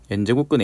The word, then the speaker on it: n제곱근: 이제 학생들을 가르칠 때이 n제곱근 a를 읽을 때 좀 m√a라고 읽는 경우를 좀 봤었거든요 그래서 n노트 a가 아니고 n제곱근 a다라고 생각을 하셔야 돼요 자 여기서 도식화를 해놨습니다